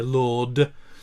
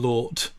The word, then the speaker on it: Lord: And so I'd always much rather hear Lord than Lort, because that's not a word, but Lord.